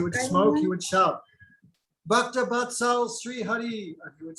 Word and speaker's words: Bhaktivedanta: Bhaktivedanta Sri Hari.